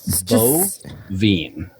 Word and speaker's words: Boivin: So it is Boivin. Boivin. I'm going to do like in a Gary Vee episode where he's like Vaynerchuk. Boivin. But if you spell it Boivin. B-O-V-E-N, you'll get it phonetically correct.